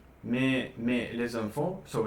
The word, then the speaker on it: mais: Yeah, but you were pronounced like mai, and I was like, where do you read this? Yeah, mais.